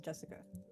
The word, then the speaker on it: Jessica: Anyway, that is pronounced Jessica.